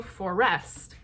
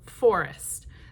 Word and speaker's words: forest: So when I say the word forest, we don't go forest, we go forest. That very first syllable of that word is the strong beat, or the strong syllable.